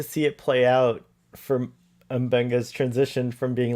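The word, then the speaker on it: M'Benga: First of all, it's pronounced Mbenga. He is Mbenga.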